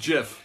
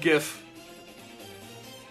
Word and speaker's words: GIF: this jiff stand for it is pronounced jiff I looked it up there's a whole thing it's not called gif now talking about Frank